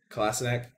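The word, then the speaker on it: Kolašinac: Kolasinac.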